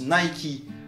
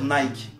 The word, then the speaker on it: Nike: non non donc d'accord en anglais ça se prononce nay qui met alors du coup pourquoi en français on va dire nike c'est bête si pas